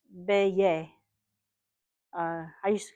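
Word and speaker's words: Beje: E G, but because it's in Dutch is pronounced Beay.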